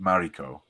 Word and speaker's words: Mariko: Okay, and secondly, Morico or in the movie, which we're going to talk about in a minute. To me, it's Morico, but they pronounce it Mariko.